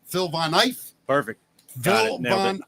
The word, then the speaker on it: Phil Von Eiff: Now I'm gonna screw up the pronunciation. Phil Von Eiff.